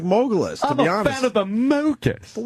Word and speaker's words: Mogulus: How do you spell Mogulus? It's spelled like mogul when you're a mogul. M-O-G-U-L. And then us. Mogul us.